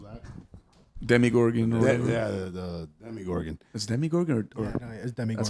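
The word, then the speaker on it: Demogorgon: thing that goes that demi gorgon yeah the demigorgon that's demigorgon that's how you say it okay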